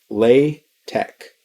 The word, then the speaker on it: LaTeX: the word latex so it's pronounced with a k lay tech and what it is